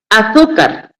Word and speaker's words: azúcar: Azúcar tiene la mayor fuerza de voz en la penúltima sílaba, por eso se le marca la la tilde.